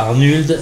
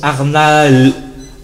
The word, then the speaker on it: Arnaud: Gilles d'or à Arnuld, Arnuld, à quoi? Arnaud, ça se prononce Arnaud.